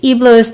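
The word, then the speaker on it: Heblos: His name is Eblos, the H is silent.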